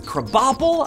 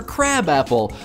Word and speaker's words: Krabappel: it's enjoyable oh man bart's teacher's name is krabappel i've been calling her crabapple i've been making a